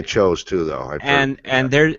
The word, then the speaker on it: Tso: Do you pronounce it chose like, or is that a different dish? I'd say General Tso's chicken. Yeah, that's how what I say. thought. I say Sows.